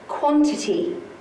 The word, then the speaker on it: quantity: The initial syllable is what you have to learn by heart. Because quantity sounds like O. The vowel sounds like an O sound, but it's actually represented by the letter A.